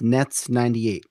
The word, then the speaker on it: netz98: It's by the way, it's pronounced Nets98, right? Uh, yeah, that's correct. Not Netz. It's Not called Netz. I used to always call Netz. it NetZ. Yeah, Netz is a German word for net.